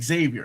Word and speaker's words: Xavier: My name is mispronounced with the X. So My name is pronounced with the So X. you I don't know why I'm doing this. So you actually pronounce it Xavier, and that's the way it should be.